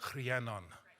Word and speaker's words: Rhiannon: And where I grew up, Rhiannon would be pronounced Rhiannon. Yeah, so that's like how I grew up in Wales, so it's a very good Welsh name.